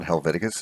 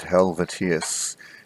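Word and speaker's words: Helvétius: It's not Helveticus, it's Helvetius.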